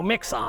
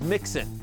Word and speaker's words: Mixon: 13.4 points for Joe Mixon. We've been wondering that for ages, Matthew. The whole staff has. By the way, and I don't think that's really how you pronounce his name. It's Mixon.